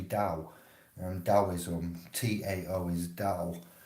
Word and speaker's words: Tao: at it as if it would say tal it's actually dao and daoism t-a-o is